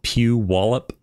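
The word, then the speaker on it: Puyallup: I can't pronounce that that City it's you pronounce it Pew wallup PE peup yeah PE yeah there's lots of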